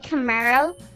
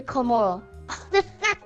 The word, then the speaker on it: Camaro: say complicate and then instead of shevy Camaro he was say shevy curo I feel so bad